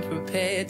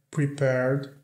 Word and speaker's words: prepared: I'm prepared to sacrifice my life. I'm prepared to sacrifice my life. Eu estou preparado para sacrificar a minha vida. I'm prepared. O D aqui não é pronunciado.